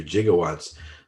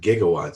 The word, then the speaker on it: gigawatts: the in the movie back to the future jiggawatts but we pronounce it pretty much now we pronounce it gigawatts so that didn't age well should have been